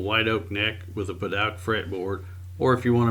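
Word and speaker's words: Padauk: as this beautiful white oak neck with a Paduk fretboard, or if you want to mispronounce it, you can call it Paduk.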